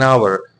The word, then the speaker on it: hour: Because H becomes silent and the sound is the O sound. So we say an hour.